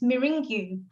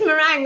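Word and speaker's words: meringue: is a mang okay it's really funny spelling actually because it if you if you try and pronounce it the way it reads it's mingu but it's merang I don't and and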